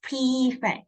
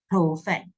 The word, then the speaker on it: prefect: And this one pronounces prefect, not perfect. It's prefect.